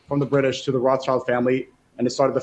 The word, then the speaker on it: Rothschild: I'll just refer to them as the Rothschild family because that's how it's pronounced, and I have a very No, big we got thing to with. go with the authentic Sneako pronunciation. I have a. I mean, I know lots of people pronounce it as Rothschild, and I usually don't say anything, but I don't want to pronounce it as Rothschild because it's Rothschild, but which just literally means red sign or red shield.